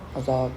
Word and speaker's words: Azov: Azov, yeah.